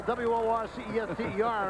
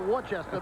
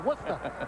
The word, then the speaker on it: Worcester: You might have thought of it when you saw W-O-R-C-E-S-T-E-R and pronounce it Worcester, but it's Worcester.